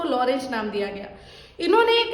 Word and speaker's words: Lorenz: उन साइंटिस्ट का नाम था लॉरेंज, ठीक है। स्पेलिंग होगी लॉरेंज की LORENZ, ठीक है। बहुत जगह पर TZ लिखा है, लॉरेंज।